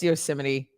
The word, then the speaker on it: Yosemite: Yeah, Steve says Yosemite.